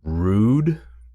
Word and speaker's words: Røde: a more European Vibe so does this mean that the company's name should be pronounced rude yeah anyway the late